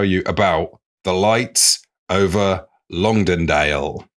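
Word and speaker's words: Longdendale: about the lights over lundale that's a place name wow lundale long dendale long dendale long dendale I did actually speak to my mother-in-law for pronunciations for this oh wow wow that's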